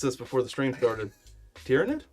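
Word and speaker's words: Tyranid: You gotta pronounce it right. I know. We practiced this before the stream started. Tyrannid? Tyrannid.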